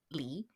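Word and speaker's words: 梨: uh pronounced and to say pear it's li so the li spelling kinda sounds dissimilar yeah and so it's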